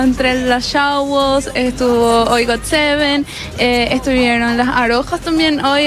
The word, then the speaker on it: GOT7: Okay, eso es, se escribe GOT7, así se lee Got7. Así mismo, GOT7.